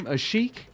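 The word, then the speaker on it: Asik: They had Omar, how did you pronounce his last name? Azik.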